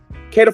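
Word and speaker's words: Kaieteur: Kada Falls. K A I T E U R is how it's spelled.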